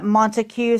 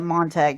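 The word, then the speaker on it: Montague: Say uh Montue. Some people pronounce it Monte County.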